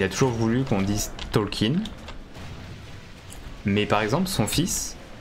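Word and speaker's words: Tolkien: de problème et bien lui il a il est parti vivre en France du coup France pour ses enfants et tout ils ont préféré la prononciation du coup tolken tolken c'est la femme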